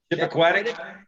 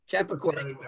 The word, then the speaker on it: Chappaquiddick: Chippequatic? Chappaquiddick.